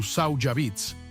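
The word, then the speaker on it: Tsawhawbitts: Según su tradición oral, un gigante llamado Sau Beats, pronunciado aproximadamente tu Saujabits, vivía en algún lugar dentro de sus paredes.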